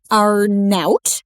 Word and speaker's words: Arnaout: Arnout. Am I Did I just say that correctly? You did. Rhymes with snout.